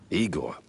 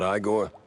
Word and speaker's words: Igor: Igor, not Igore.